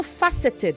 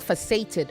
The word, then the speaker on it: faceted: the action okay um it is also faceted not facated faceted faceted the emphasis is on the fa multifaceted okay not multifaced